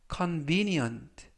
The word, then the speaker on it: convenient: 되겠습니다 이번 표은 conveni convenient convenient라고 발음하시면 되겠고요 이때 강세는 가운데 부분에 있는 알파벳 2에 강가 있 이번 단어에서이가 두 개가 나오는데요 첫 번째 나오는 알파벳 2에 강세가 있어서라고 발음하시면 좋겠고요 품사는 형용사 뜻은 편리한이라는